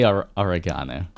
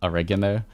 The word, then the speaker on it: oregano: of orig I mean in Down Under World we say oregana I know some people say oregano but uh down on